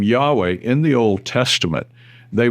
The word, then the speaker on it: Yahweh: In Hebrew, the word that became Jehovah is usually pronounced Yahweh.